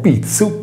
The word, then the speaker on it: pitzu: Pronunciando la parola pizzu, panna in sardo, sentiremo vibrare le corde vocali, poiché il suono è sonoro. Se invece pronunceremo pizzu, pizzo, non sentiremo vibrare le corde vocali poiché il suono è sordo.